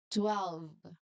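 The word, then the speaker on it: twelve: You can say the word really slowly now but make sure to hit the table uh tw sound as well as the V sound. 12.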